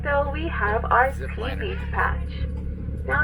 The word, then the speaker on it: ti: Next, coming up to my right though, we have our tea leaf patch. Now it's not to be confused with the tea that we drink. This one is spelled T-I.